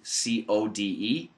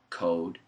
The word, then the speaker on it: code: to know the difference uh uh uh the pronunciation difference between c o d and c r d c o d e code code code c o r d cord cord